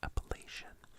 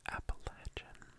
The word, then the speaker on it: Appalachian: why I'm So Married to say Appalachian is just because of like the French in me a little bit there's a little bit of that that's like like smoother word pronunciation but appalachin also works appan app app app